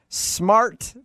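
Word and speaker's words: Smartt: And the weirdest town in America, Smart, Tennessee. But Smart is spelled S-M-A-R-T-T.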